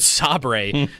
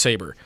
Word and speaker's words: Sabre: called Saber that they they think it's called Sabre for a full episode and then they realize that it's pronounced Saber.